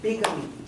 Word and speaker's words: bigamy: this is polygamy, this is, how do you pronounce that? Bigamy? Bigamy, that's Bigamy.